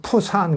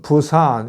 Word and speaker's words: 부산: 영어도 뭐 어떤 사람은 푸산 그래가지고 P로 발음하는 사람도 있고 어떤 사람은 부산 이래가지고 B로 발음하고도 있고 그러잖아요.